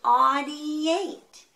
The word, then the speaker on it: audiate: It rhymes with great. It's great. It's great. It's great to audiate.